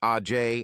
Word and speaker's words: Age: Now, at 18 years old, Sage had 2 sisters, Age, pronounced Ajay, and Lage, pronounced Lajay Smith, and 2 brothers, Fremont, pronounced Fremonte, and Tremont, pronounced Tremonte Jones.